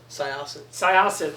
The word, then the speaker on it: Syosset: Syosset, like a faucet.